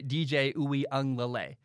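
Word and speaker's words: DJ Uiagalelei: how to say it i'm pretty sure you say dj ooey lay jt daniels is at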